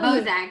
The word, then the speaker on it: Bodzak: i say your name bozak or bodzick whichever way is fine uh bozak is actually the correct pronunciation is here with us